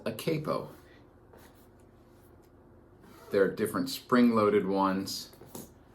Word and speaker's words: capo: correctly this is pronounced capo not capo capo because it is an italian word which means head or